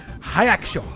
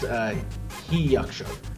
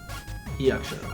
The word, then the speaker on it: Hyachso: I'm gonna mispronounce this. I know I am. Hyacsho.